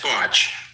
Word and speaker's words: Bach: How's the name pronounced? Yeah, it's Botch. Botch.